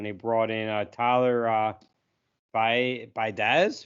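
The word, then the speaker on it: Biadasz: brought in Tyler uh by baz I guess you say his name I say his name say badass that's kind of probably what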